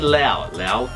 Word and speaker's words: Laos: And I said Lao, and it is an S in it, but it's pronounced Lao. S is silent.